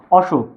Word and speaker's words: অসুখ: এজন্য এর উচ্চারণটা হবে অসুখ। অ উচ্চারণটা বজায় থাকবে।